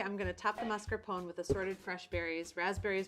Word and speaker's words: mascarpone: a toasted baguette pronounced mascarpone in Italian this is a double